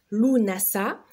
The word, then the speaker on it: Lughnasadh: Donc, Lughnasadh, ou qui se prononce Lunasa, qu'est-ce que c'est?